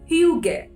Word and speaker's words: hygge: नाउ इस feeling को कह सकते हैं हम ह्यूगे, और ये ह्यूगे ध्यान से प्रोनाउंस करिएगा क्योंकि ये वर्ड देखने में बहुत ही डिफरेंट है।